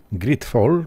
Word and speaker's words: GreedFall: Witam w naszej grze Gridfall, bo tak się to prawidłowo wymawia.